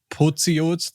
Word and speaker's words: Pociot: So maybe you can So a lot of people try to pronounce it in French, probably because my first name is, but it's Pociot. That would be like the German pronunciation, so quite hard.